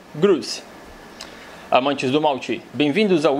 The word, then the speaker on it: Grouse: se chama The Black grous mas acho que ninguém no Brasil pronuncia isso aqui como grous então melhor usar a forma como as pessoas do Brasil falam grce Amantes do Malte bem-vindos